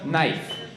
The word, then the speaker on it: knife: Didn't you just see that K in it? That's knife. They're like, no, that's knife. I was like, okay, explain that. Well, the K is silent.